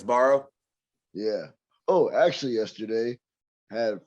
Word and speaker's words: Sbarro: I can't pronounce it. Sombrero or whatever. Sombrero. SBARRO. Yeah, it's always at those like malls. Yeah, it's Barrow.